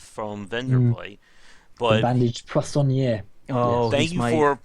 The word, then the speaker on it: poissonnier: Now I saw that I could recruit that chef from Vendorplay, but the bandaged poissonnier. Oh, thank you for pronouncing that, by the way.